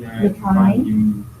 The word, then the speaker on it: metonymy: Why is there a Y at the end? Was there what? A Y at the end. Oh, metonymy. Yeah, Right, metonymy. right. Uh-huh. Baton. Metonymy.